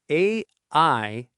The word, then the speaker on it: aisle: It is A-I-S-L-E, but the letter S is completely silent.